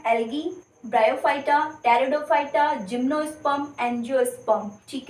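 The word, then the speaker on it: Pteridophyta: Second है ब्रायोफाइटा, third है टेरिडोफाइटा, ये पी बच्चों साइलेंट रहता है।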